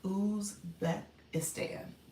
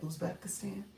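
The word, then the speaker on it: Uzbekistan: Ubeistan. Did I say that? Usbekistan.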